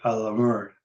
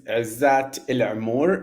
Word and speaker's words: Izat El Amoor: My name is Izat El Amoor in full Arabic pronunciation, and pronouns he, him.